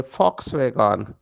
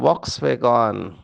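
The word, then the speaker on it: Volkswagen: एक कार है जिसका नाम है फॉक्सवैगन, लेकिन भारतवासी उसको पढ़ते हैं वॉक्सवैगन, क्योंकि वो पहला जो अक्षर है वो वी अंग्रेजी में है, तो उसका उच्चारण तो वॉक्सवैगन होगा। लेकिन फ्रेंच में वो फ हो जाता है।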